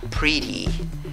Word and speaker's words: pretty: Divides esta palabra en 2 sílabas, la fuerza de voz en la primera sílaba contando de izquierda a derecha, pero mira. Cada sílaba tiene una I diferente. La primera sílaba tiene una I corta. La segunda sílaba tiene la E con sombrero, que es I larga. Entonces, esta palabra la vas a pronunciar como pretty, pretty, ¿ok?